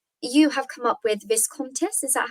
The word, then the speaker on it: Viscontis: Um, Now, obviously, you have come up with Viscontis. Is that how you pronounce Yes, it?